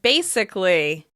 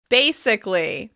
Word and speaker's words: basically: Let's take a look at the word basically. Basically. When you see this word, it looks like it should be pronounced basically, but we actually drop that vowel sound before the ly ending.